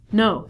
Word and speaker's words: know: We reduce this to no. So not only the beginning letter K is silent, but the W is also silent.